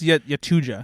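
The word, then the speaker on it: Yautja: That's why I'm saying Yahoo instead of I think it's Yatuja. Tuja.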